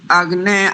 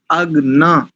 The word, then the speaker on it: अग्न: थोड़ा ध्यान दीजिए बस अगन आपके हा उरण में ऐसा प्रतीत हो जैसे आप अगने ऐसा कर रहे अगना आया ठीक चलिए आइए इसके भाष्य